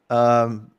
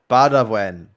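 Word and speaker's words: Baudouin: And by the way, Boudouin, I know that your name is pronounced Badawin. Badawin. Oh, get Badawin. it. Yep. I reviewed a tweet Badawin. for a DM from Ginobili Source when they were in Vegas, and he said his name, and I'm like, oh, I've been saying it wrong this whole time.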